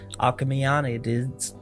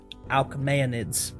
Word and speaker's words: Alids: family known as the alaman oh nope that's not how you say it alids there we go so